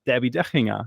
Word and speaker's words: Debbi Dachinger: uh Debbie dinga hi thank you for saying my name so well and T to the second degree this is D to the second degree it is a pleasure to be here with you well yeah it's a German name so uh yeah I I really have to say it like that so you're gonna be